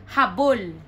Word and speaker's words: habol: That's H-A-B-O-L. So the first one, the stress is in the middle. So that would be pronounced as habol.